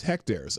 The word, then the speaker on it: hectares: even uh he hect rhymes with deck chairs hectares okay thank you thank